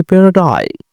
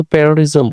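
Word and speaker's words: paradigm: এটার উচ্চারণটা হচ্ছে প্যারাডাই। আমরা সাধারণত প্যারাডিজম বলে অভ্যস্ত।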